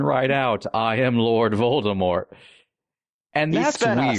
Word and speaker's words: Voldemort: out, I am Lord Voldemort. And He that's spent weird. a Saturday on that. Which means the silent T is only there because he needed that extra letter.